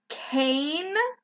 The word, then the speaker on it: cane: The E becomes silent. Did you notice that we don't say it? Cane. The magic E is silent, but it changes the sound of the vowel before it.